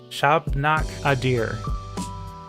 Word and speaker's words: Shabnak Adyr: about this topic as a decent person herself shop knock a deer is that how you pronounce it yes that's right okay gosh uh